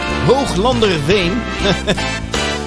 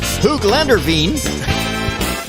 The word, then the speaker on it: Hooglanderveen: Beautiful little village called Hooglanderveen. Or in Google pronunciation, Hooglanderveen.